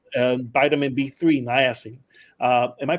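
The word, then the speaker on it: niacin: circulation to your scalp something like vitamin B3 nasin uh am I pronouncing it right nasin yeah you're right yeah you know my Spanish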